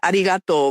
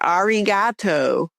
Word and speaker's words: arigato: and he wanted to do a little play where I would say arigato which is thank you and I couldn't even pronounce it. I said arato but but when I